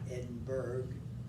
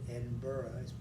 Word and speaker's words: Edinburgh: it's usually pronounced not edinburgh but edinburgh it's spelled that way but it's not pronounced that way scotland his father was